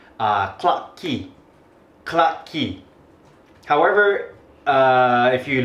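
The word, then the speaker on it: Clarke Quay: So there is a place a bar street in Singapore called clock key. Clock key. However, if you look at the spelling in America, I think we will pronounce it clark que でもシンガポールだと cla。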